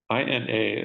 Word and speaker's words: Ina: INA is pronounced Ina. I found this out from her, and it's a Caddo word, and it means mother, and it means earth at the same time.